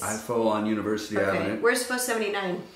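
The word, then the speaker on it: pho: is a bowl of f f is how it's pronounced yeah pH o it's my favorite thing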